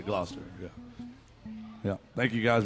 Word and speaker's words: Gloucester: that's how it's pronounced gloucester it looks like glock glock caster but it's just you say gloucester yeah yeah thank you